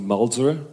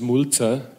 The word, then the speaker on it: Mulzer: name is and if you come from america you would pronounce me malzer this is what john does and what richard does in germany my name is mulcher sounds less nice and if i look